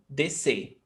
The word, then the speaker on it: descer: We've got 2 letters, S and C. SC. But the pronunciation is just S. S. Descer. One sound. Descer.